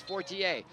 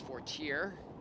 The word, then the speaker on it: Fortier: Okay, so she pronounces it the American way. I learned French, it's Fortier.